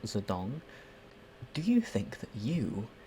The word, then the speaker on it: Zedong: are not familiar with ex-Chinese chairman Mao Zedong, sometimes romanized as Mao Zedong, but it's still pronounced Zedong.